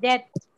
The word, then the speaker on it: depth: DEPTH, डेप्थ. ये पी जो है इसके अंदर साइलेंट होता है.